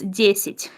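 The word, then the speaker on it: десять: So 10 sounds like deceit. Deit. And if you pronounce it fast, it's desit.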